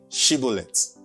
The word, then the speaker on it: Shibboleth: Then they would say, "Okay, say Shibboleth." Now, the Bible says, because I think the Ephraimites also cannot pronounce the word, the sound, she.